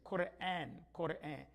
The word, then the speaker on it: Quran: And some get a little upset, they go to a bookstore, they see Koran, and then they're looking for Quran. So that is just to help us pronounce it correctly. Quran, to help us pronounce it correctly.